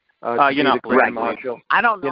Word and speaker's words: Yiannopoulos: Maybe they didn't like the idea of Milo Yiannopoulos, Nathaniel, I'm pronouncing it right? Yiannopoulos.